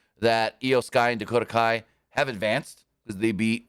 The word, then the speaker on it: Kai: the only one who saw the benefit of Kai, which she called Sky, and then goes, yeah, I know I said her name wrong.